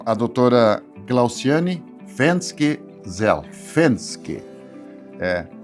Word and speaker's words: Venzke: Clausane Fensk zel Fenske. Eh, o V, o, o V, na verdade, né, na língua alemã tem a pronúncia do F, assim como o Fort